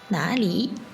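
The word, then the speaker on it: 哪里: Enfin, 哪里 veut dire où. Et ici, troisième ton pour na et li, ton neutre. 哪里 Oui, bien sûr, dans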